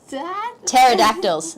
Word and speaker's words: pterodactyls: outside of dinosaurs like pterosaurs pterodactyls it's a silent pee yeah cool uh for